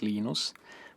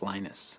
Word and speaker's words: Linus: speak swedish it's venus when i speak finnish it's linos when i speak english it's linus and i really don't